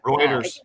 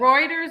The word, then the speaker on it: Reuters: uh Routers article and I don't know if it's Routers or Routers, however you say the Reuters.